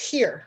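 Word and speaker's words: hir: bisexual and polyamory communities her spelled h-i-r which is a blend of his and her I think that's pronounced here right that's how I heard Kate Bornstein pronounced it here recordings here recordings um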